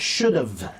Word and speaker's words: should've: Help you with the pronunciation of the contraction should have, should've, and must have, must've. Should've, should've, div. You have to practice the DV sound. Should've, div, should've.